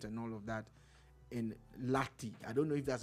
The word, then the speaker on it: Lahti: He works in the works and transportation department and all of that in Lahti. I don't know if that's a proper pronunciation for that part of Finland. It's Lahti.